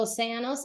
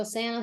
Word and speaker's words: océano: Make sure that you are stressing se. Océano. The force of the word needs to be on the sound se. Océano.